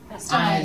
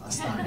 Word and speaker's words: Hammerstein: Hammerstein. Stein. He's pronounced the second vowel. Right. Stein. Exactly.